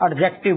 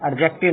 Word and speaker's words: adjective: Teacher भी इसको एडजेक्टिव बोलते हैं। एडजेक्टिव नहीं होता, ये एडजेक्टिव होता है।